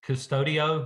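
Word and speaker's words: Qustodio: There's Custodio, which is spelled Qustudio.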